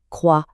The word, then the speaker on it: croix: Prenons le mot une croix. On l'écrit avec un X à la fin, mais on prononce tout simplement croix, le X totalement muet.